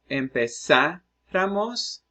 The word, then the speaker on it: empezáramos: Well, empezáramos. It's a word with emphasis on the third last syllable.